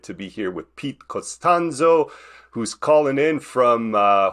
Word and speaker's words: Costanzo: I'm super excited to be here with Pete costanzo who's calling in from uh hopefully I pronounced that right but uh Pete you're calling